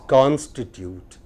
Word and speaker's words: constitute: Consecrate, consecrate, considerate, considerate, constitute, constitute, No, it is constitute.